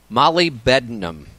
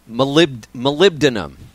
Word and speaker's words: molybdenum: word always gets me to Molly Benham Molly molybdenum I think is the actual way you pronounce it good molybdenum I hate